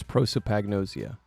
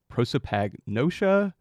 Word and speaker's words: prosopagnosia: The question for this episode is, what is prosopagnosia?